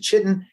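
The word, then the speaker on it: chitin: some people pronounce it Kiton some people pronounce it chitten but they had these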